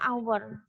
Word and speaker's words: hour: Tetapi ada kata, nah di sini yang dia itu nggak bisa pakai hour itu bacanya hour. Nah di sini tulisannya kan h, iya tulisannya h, tapi dia bacanya kan vokal hour.